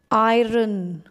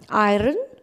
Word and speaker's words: iron: Iron. Is it right? Am I pronouncing it correctly? Iron? No, that's wrong. We call it iron.